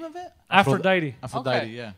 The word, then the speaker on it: Aphrodite: Like, the other day, I was going to go to Afrodite and grab, like, a little sandwich. To where? Oh, sorry. I keep forgetting. Sorry, it's a Greek bakery. Okay. What's the name of it? Aphrodite.